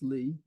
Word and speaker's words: Lie: was a Norwegian named sopus Lee pronounce Lee and the other was